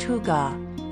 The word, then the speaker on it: hygge: Hygge, pronounced hygge, is a Danish concept that embodies coziness, comfort,